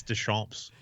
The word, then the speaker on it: Deschamps: As we've been informed, like the last day of the season, it's Deschamps.